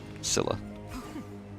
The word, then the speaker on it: Scylla: Scylla. I always said Scylla, but I think they pronounce it Skilla in the game.